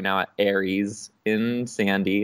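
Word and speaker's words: Aeris: Yeah, it's A-E-R-I-S, like Ariel, but Aries.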